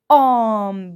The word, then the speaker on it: homme: très bien home home homme bravo الH وحدها c'est un H muet وكأنها غير موجودة directement je prononce le voyelle alors homme très bien homme ensuite p